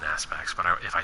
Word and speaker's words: ASPX: So there it is, the IPX ASPX. And the more I say that, knowing that it's a ridiculous name and I'm pronouncing it wrong, I know it's an Aspects, but if I say IPX ASPX, it's funny.